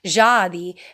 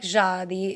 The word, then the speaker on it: Dziady: I love the word Jadi. It's Dziady. And if I'm saying it wrong, I'm sorry, but I feel like my grandfather would be kicking me if I was saying it wrong, because he doesn't like my stupid American tongue, as he put it. So I feel like Jadi is appropriate for the pronunciation.